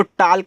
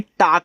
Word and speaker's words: talk: TALK इसको टाल्क नहीं टाक पढ़ना है। देखो यल आपका साइलेंट रहेगा क्योंकि यल के बाद क्या आया है, के आया है, जिसका मतलब होता है बात कहना।